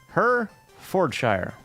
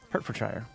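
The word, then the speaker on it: Hertfordshire: her for her her her for Shire ta is silent how the I don't believe you hurt for Shire hurt for Shire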